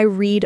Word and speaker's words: read: Yes, today I read my messages. But yesterday, I read my messages. It sounds like the color red.